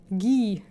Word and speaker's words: Guy: Falls der Franzose ist, spricht man es G aus. Ah! Die haben beide keine deutschen oder österreichischen Namen. Guy.